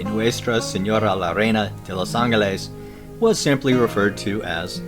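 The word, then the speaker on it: Los Ángeles: has varied over time spoken correctly in spanish it would be los angeles that is with an o sound in the lows and in heart well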